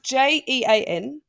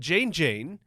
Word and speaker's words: Jean Jean: other way around and it's spelled j-o-h-n so it's clearly John John whereas this one spelled Jean Jean and it's it really